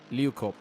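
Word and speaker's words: Leeukop: Turn 10, is it Liukop? Liukop, yeah, Liukop. Okay, so yeah, Liukop, so Liukop. You know, I mean, if you can get the good breakdown into Liukop and coming out of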